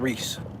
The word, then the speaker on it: Rhys: Did you pronounce that Reese? I'm not sure, but whatever. Just came in. Yes, that's it, mate. I thought it was something like that, Reese. Yeah. The Y makes an E.